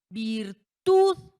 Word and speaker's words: virtud: Virtud, virtud. Ahí está en la última, ¿ya se dieron cuenta?